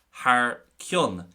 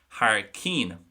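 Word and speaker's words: thar cionn: But today, the first thing we are looking at is Har Kyun, or as I would pronounce it, and as most Connacht speakers would pronounce it, Har Keen.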